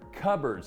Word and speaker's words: cupboard: cupboard spaces up here cupboards it's kind of cup and board see it holds our cups and it's made out of a board cupboard it's how you pronounce it but we got